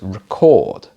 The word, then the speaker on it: record: you record it well when it's a verb we put the stress at the end of the word so it's record but if we had for example big vinyl lp i might talk about that being a record so the stress is at the start there are a lot of words